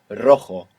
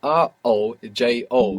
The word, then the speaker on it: rojo: The word for red in Spanish is rojo. Rojo. This is spelled R O J O. And J's in Spanish are pronounced like this.